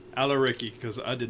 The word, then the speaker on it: Al-Areqi: Al-Areqi. Al-Areqi, because I did not want to say it wrong.